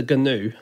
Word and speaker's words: Gnu: I just think Newt the Gnu is a bad character. Well, it was rejected, so that's fair enough. That's true. But it's not alliterative unless you don't pronounce the G in Gnu.